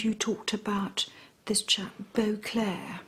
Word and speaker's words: Beauclerk: His name is Topham Beauclair. It's spelled Beauclerk.